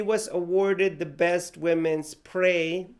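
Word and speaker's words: prêt: And during 2004, he was awarded the Best Women's Pré. Pré in French means ready. It's spelled P-R-E-T. Remember that in French, the T at the end of the word is not pronounced.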